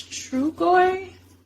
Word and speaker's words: Trugoy: I believe it's Trugoy. That's how you pronounce it as well.